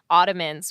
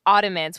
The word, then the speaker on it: Audiments: actually involved in developing Audiments, which I think that's how you say it, because it's like audience, but audio. So Audiments, which we've got a